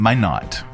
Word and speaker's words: Minot: you all right um my not like as in why not uh one domestic travel